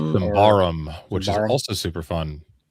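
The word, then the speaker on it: Symbaroum: They also just finished um a Kickstarter for a second edition of I don't know how you pronounce it. Symborium. Simbarum which is also super fun which I did back.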